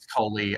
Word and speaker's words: Kohli: Like, can I just say, Rahul Cooley, not Cooley, I fucked that up. Coley, right? It's Coley. I could be wrong, but I'm pretty sure it's Coley.